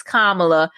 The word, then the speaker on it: Kamala: her business like why do we keep bringing kamala uh why do we keep pronouncing her name wrong chess i have to